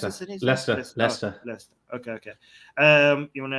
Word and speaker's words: Leicester: Xi Jinping is saying your views on Islamist attack in, how do you pronounce Leicester. the city? Leicester.